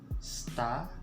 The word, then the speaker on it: stasiun: So it's going to sound like this: stasiun. Okay, stasiun. Okay, like yun, because it's I-U-N-N.